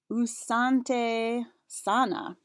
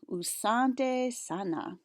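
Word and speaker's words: asante sana: here are some ki swahili greetings with the pronunciation key which is important to say thank you you would say usante sana try that usante sana interesting here is another cool word rafiki that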